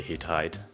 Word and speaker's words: HidHide: you pronounce it I we say heat hide because okay typically in German you know you don't really say hid you just go with hit so oh shoot really